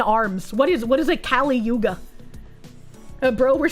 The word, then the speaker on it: Kali Yuga: Also not how you pronounce it. Not Caligula, Kali Yuga.